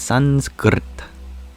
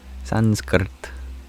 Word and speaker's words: Sanskrit: cor correct pronunciation is you roll your R from the k sound to the T sound so it's Sanskrit Sanskrit there actually is no